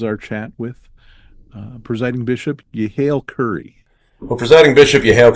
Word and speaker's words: Yehiel: the same name, and he pronounces his Yehiel, so that H has a k sound, and they go to that second vowel versus the first, which is how we get that Yehiel. So I pronounce it as Yehiel.